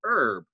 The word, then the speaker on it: herb: pronounce that h but here in the united states with a little bit of french influence we tend to drop that h and just say herb but however you say